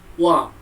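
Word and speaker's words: は: Walaupun ditulis huruf hiragana ha, akan tetapi dibacanya menjadi wa.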